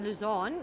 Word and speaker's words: Louzanne: Did I pronounce it properly? Louzanne, yes, you did.